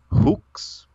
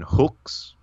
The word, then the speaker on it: hux: fun with it so first word i have just kind of lined up here is uh hooks that's the amalgam pronunciation hooks and i've transliterated as uh h-u-x or h-u-x to use uh and then the unamount theme would be yeex so you got kind of the hooks with the o and yx with the with the e sound uh and those two